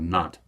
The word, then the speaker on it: Nantes: In French, the only letters you pronounce at the end of a word are C, R, F, and L. So Edict of Nantes.